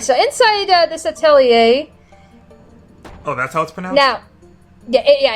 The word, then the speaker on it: Atelier: don't even know all right so inside this Atelier announcement on now yeah it's actually pronounced Atelier I did hear that somewhere I don't remember